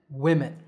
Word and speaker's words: women: And the second is we, men, women.